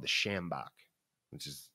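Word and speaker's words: sjambok: You know, my favorite gimmick, though, is a thing called the shambok, which is spelled S-J-A-M-B-O-K.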